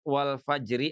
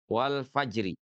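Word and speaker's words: والفجر: Atau bisa juga antara ro sukun dengan fathah dan domahnya itu adalah huruf sukun pula. Contohnya ya, contohnya itu misalkan pada kalimat wal fajr ya, misalnya contohnya ada kalimat wal fajri atau wal asri ya. Nah, misalkan ada kalimat wal fajri nih di sini.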